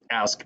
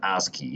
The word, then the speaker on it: ASCII: ask code I got to know it's called ask pronounce the ASCII instead of ask to I learned in China